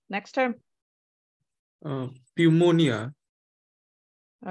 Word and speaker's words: pneumonia: all right next term pneumonia all right so remember there's no P here this p is silent so pneumonia pneumonia excellent um